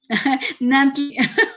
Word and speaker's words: Nantli: Nantli, como me dicen, no Nagni, puedo pronunciarlo.